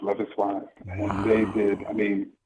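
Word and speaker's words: Loveis: love is wise yes their name is it's pronounced love is and they did I mean it's just an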